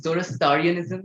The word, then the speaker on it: Zoroastrianism: I think I'm not getting it right, the pronunciation, Zoroastrianism, the religion.